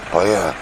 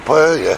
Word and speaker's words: paella: Paella. How do you pronounce that?